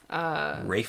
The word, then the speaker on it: Ralph: Zero running around with Ralph Fiennes. Rafe Fiennes. Rafe Fiennes, I'm sorry. It's spelled Ralph. Yeah. And I'm American, so it always comes out Ralph.